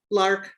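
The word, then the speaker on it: Lerch: And the way that I'm presenting is Lark. And I will spell both. Lark is spelled L E R C H.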